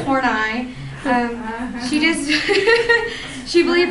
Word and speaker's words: Horney: kind of ironic because her name looks like it'd be pronounced horny but it's horn ey um she just she